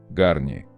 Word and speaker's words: Garnier: Раньше марка Гарни озвучивала себя по-русски как Гарни, знак зарегистрирован в России с 1991 года, в традиции французских марок типа Перье или Курвуазье. Позднее по результатам проведенных фокус-групп марка отказалась от верного произношения и заменила транскрипцию на